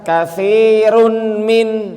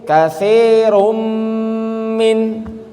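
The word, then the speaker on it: كثيرٌ من: Ternyata dibacanya bukan katsirun min, enggak, tapi katsirum min.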